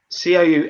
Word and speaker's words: Cou: with his pronunciation guys cou actually rhymes with so except the first letter sounds like a it's a t like